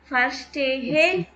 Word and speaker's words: verstehe: தஸ் verstehe ich nicht. Das versus வராது. வி வந்து F pronounce பண்ணும். verstehe ich nicht.